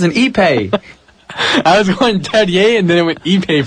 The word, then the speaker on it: Terje: It could be Todd Terje or Tarj. No, I think the J is actually silent. Terje?